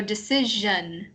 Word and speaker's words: decision: Normal S sound is like S, but if it's SION, then it's like an SH sound. So it's shh. Yeah, so decision.